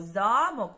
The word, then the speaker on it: замок: коли ми покакали слово замок ми побачили що наголос стоїть у нас на першому складі так на першому складі в нашому слові замок а давайте тепер теж